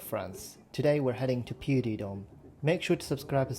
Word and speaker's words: Puy de Dôme: a place that's called, I think it's pronounced Puy de Dôme, but probably not.